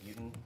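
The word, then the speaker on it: Beauton: Please state your name and spell it for the record. Buten Jr., last name B-E-A-U-T-O-N.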